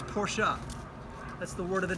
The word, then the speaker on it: Porsche: like hey guys FYI it's not Porsche it's porschea that's the word of